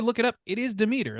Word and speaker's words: Demeter: Greek god Demeter is in there, and they pronounce it Demeter, so I can't not hear it that way or say it that way. I had to look it up. It is Demeter, like that's how that's pronounced, how it's supposed